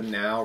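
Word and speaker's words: NAO: you've probably heard of this it's called the now robot it's spelled in ao um basically latest press releases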